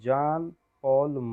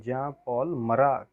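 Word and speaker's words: Jean-Paul Marat: नाम था इसका जान पॉल मरा, है ना। इसको जो प्रोनाउंस करेंगे वो जान पॉल मरा बोलेंगे। तो जीन पॉल भी कह सकते।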